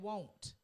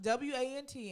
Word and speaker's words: won't: stop being alone and won't it's not w-a-n-t and w-o-n apostrophe i think it's pronunciation i think you have a listening problem when you hear somebody say want yes won't and won't won't and want are different they're different and i just came